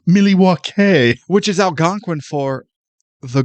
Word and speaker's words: Milwaukee: It's pronounced Milywake, which is alangquin for the good land.